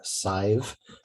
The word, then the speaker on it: Sive: chris pronounce he him sive rhymes with five pronouns she her she's